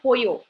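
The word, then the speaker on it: pollo: script as English use the letters are similar to English but the sounds are not for example in chicken right chicken the chicken uh that is called poo there in uh Spanish but you spell it P O L L O Okay so something like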